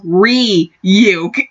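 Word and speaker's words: Ryuk: your friend and Enriquez like hey dumbass is pronounced re you that was incredible that was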